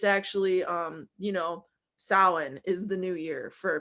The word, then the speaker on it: Samhain: people who are under the occult um basically samhain is the ancient holiday that halloween is from or samhain by other people's pronunciation and this is like el dia de